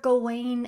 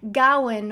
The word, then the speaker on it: Gawain: But yes, The Green Knight, based on the Arthurian legend Sir Gawain and the Green Knight. I know everyone and their dog has a different pronunciation for Sir Gawain.